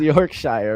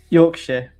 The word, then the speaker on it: Yorkshire: It's called Yorkshshire, right? Am I saying it wrong? Yorkshire.